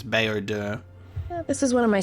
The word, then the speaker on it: Baodur: I love Bowder. Baodur, I pronounce it like bow because the word bow, but I think it's Baodur.